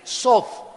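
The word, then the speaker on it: סוד: Pero cuando le dejamos el TH, la TH en hebreo se pronuncia como una D de Daniel, Sod, y significa literalmente ser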